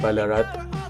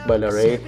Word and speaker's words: Ballarat: It's a little bit Ballarat. But, Nazri, it's pronounced Ballarat.